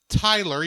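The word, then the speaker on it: Tylor: Captain Tyler yeah because it is Tyler even if it's spelled odd for Tyler but still right yeah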